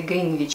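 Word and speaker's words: Greenwich: которая идет до станции Гринвич. Точнее, англичане эту станцию произносят как Гринвич. То есть В не проговаривается.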